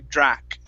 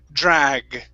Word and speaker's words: drag: g in drag now remember this is a voice sound if it's unvoiced it sounds like a k so you you are saying a word sounds sound similar to drak with the k sound at the end so this is drag drug drug there you